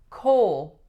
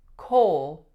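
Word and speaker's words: Cole: next one we have coal coal only one syllable but a few tricky things going on the first is that we have the vowel o and it goes right into a dark L sound full coal coal next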